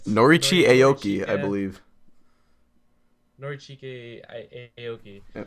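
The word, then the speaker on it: Norichika Aoki: Norichi Aoki, I believe.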